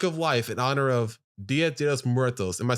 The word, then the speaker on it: Dia de los Muertos: And today we're talking about Book of Life in honor of Dia de los Muertos. Am I saying that right, Sergio? Dias Muertos. At least, I don't know. Dias de los Muertos.